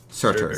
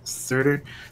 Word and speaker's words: Surtur: Surtur, yeah. Surtur, the sand giant.